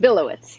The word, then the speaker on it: Billowits: did I get your name pronounced correctly? Close, Billowits.